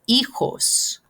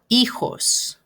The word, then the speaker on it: hijos: And remember, H in Spanish is not pronounced, it's silent. So we're going to start with the E, the I. So it's, remember, J is more like an H sound.